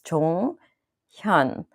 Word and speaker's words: Jonghyun: one that he's more sensitive about so it's Chong Hyun and in Korea you don't do acronyms of